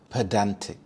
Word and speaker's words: pedantic: Pedantic. Pedantic. The stress is on the second syllable. Dan pedantic.